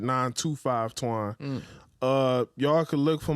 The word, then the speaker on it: 925 Twaun: popping is 925 twine but you pronounce it 925 twine uh y'all could look